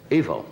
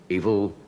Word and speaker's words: Evel: you met in uh it's not evil evil it's really it's e-v-e-l I suppose he pronounces it evil does he not I